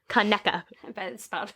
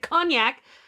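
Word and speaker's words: Conecuh: most mispronounced place names kaneka they pronounce it cognac how do you spell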